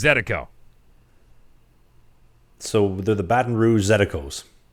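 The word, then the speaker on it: zydeco: how to pronounce it if you're pronouncing it in Creole it's zetiko so the Baton Rouge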